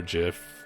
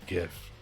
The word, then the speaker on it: gif: made it into a gif or jiff i guess i said gif so it doesn't matter i pronounce it gif if you want to